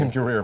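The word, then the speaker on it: Ben Guerir: And that's Banjul, the Gambia, Moran, Spain, Zaragoza, Spain, and will you pronounce it for me? Ben Gurir, Morocco. Ben Gurir, Morocco.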